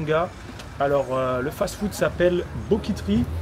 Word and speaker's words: BOKIT'RY: Alors, le fast-food s'appelle Boquiterie. Alors, Boquiterie, ça s'écrit Boquit avec R-Y.